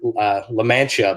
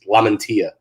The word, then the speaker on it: Lamantia: I was going to call him La Mancha because my insurance guy is spelled the same way, and it's La Mancha, but he's Lamantia. So it's Lamantia.